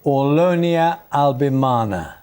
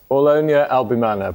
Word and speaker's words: Aulonia albimana: This is the Aulonia albimana.